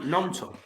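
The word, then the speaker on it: Gnonto: Nonto. Nonto, yeah. It's like a silent G.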